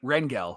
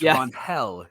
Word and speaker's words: Rangel: that one looks yeah at first I thought it was R Rangel but it's ronel yeah it's Ron gotta get that accent in there man that's that's the